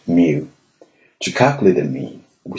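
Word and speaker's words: μ: it is denoted by the lowercase Greek letter pronounced mu to calculate the mean we simply add the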